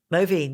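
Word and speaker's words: mauveine: Back to and it was William Perkin who created is it pronounced Moine? Mine. Yes. Yes.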